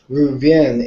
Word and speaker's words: Reuven: a Hebrew pronunciation as an act his name ruvin is how you pronounce his name ruvin that's that's good that